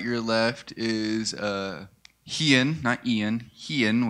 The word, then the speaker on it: Hian: All right, to my right, your left is Hian, which I kept saying Ian for over half the trip because just how they pronounced it was quick.